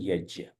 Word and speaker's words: यज्ञ: म शब्द है वह यज्ञ मैं समझता हूं शुद्ध संस्कृत में उसको उच्चारण है यज्य परंतु पता नहीं किस